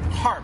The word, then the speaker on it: Harp: how do you say your last name are harp okay they have grown what is now officially